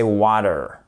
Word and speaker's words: water: toujours sur notre prononciation water water en British English et en American English c'est water water le te il devient presque comme un D et vous verrez qu'en